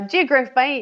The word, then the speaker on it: Geographe Bay: I uh Geograph Bay is the correct pronunciation.